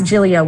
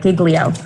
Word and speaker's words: Giglio: with the court case it is tempting to pronounce jillio with two hard g's like giglio i want to thank